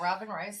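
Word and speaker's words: Robyn Rhysling: Is that how you say it? Yeah, Robin Risling.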